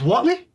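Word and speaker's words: Whatley: Yeah, it's Watley. It's Tim Wallley, but it's spelled differently.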